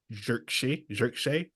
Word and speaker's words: Zirkzee: hope Xerxes, however you want to pronounce it, Xerxes, Just say gets. Zirkzee.